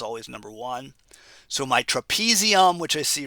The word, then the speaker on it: trapezium: trapezium rhymes with thumb and there is the